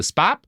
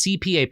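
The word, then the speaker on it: Chbap: Now, the their holy book was the spap uh it's CPAP. It's like spelled like a CPAP machine, right?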